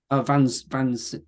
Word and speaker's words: Vansind: Vansind, yeah.